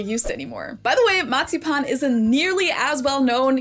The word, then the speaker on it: Marzipan: Marzipan. That's how we say it in German. Marzipan. In English, it's usually pronounced marzipan, but the word is the same.